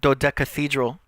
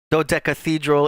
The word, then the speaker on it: Doc Cathedral: and once again oh do de Cathedral see I was still saying it wrong doc Cathedral is a single off